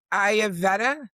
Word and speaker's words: Ayurveda: It's Ayurveda.